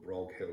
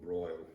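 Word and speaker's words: Broghill: the Earl of cork sounds a little broad Hill or a little broil there's no agreements even how to pronounce his name and I said Grog Hill I think anyway little bulk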